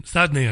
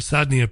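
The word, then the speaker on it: Saydnaya: They allege that mass hangings took place every week at Sadnaya prison, Sadnaya I think it's pronounced, Sadnaya prison, between September 2011 and December 2015.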